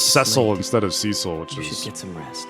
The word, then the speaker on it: Cecil: Did I just assume it was pronounced Idolon and not Idolan? She also says Ceil instead of Cecil, which is You should get some rest.